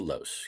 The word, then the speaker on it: Loosz: Your last name has a long O, right? Even though there's two of them. It does. Yes. So It it's is actually Loosz. it is actually pronounced Los.